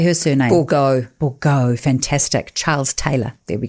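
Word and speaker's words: Bourgeault: Bourgault.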